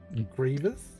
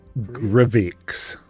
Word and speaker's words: Grivix: How do you pronounce the name again? Sorry, DM. I've already forgot. I'm looking at it and I'm going Grievous? Grivix.